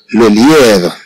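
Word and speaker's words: le lièvre: سي سي لو ليفغ لو ليفغ. إذن كما نرى أن هاد أي فيها بعض المد، إذن نقول لو ليفغ، ليس كما هو الحال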